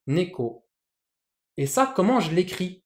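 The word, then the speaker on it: 猫: Par exemple, le chat, en japonais, ça se prononce neko. Donc, vous entendez bien, le nez est plus haut que le ko, neko.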